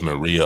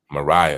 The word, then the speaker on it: Mariah: And Miss Maria, I think it's how you say her name? The center. That's Shaq's daughter. Yes, sir. Mariah, excuse me.